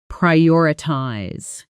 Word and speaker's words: prioritize: Notice the stress pri I ties. The emphasis landing on that second syllable. O r. Slow. Pry or i ties. Natural. Prioritize. I can't do everything today.